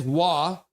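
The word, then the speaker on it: Waugh: Gets the puck in below and is Wah spelled with a W. I know, right? Philip, his name is Phipwa, spelled W A U G H.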